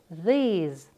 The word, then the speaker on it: these: This a short sound. These a long sound.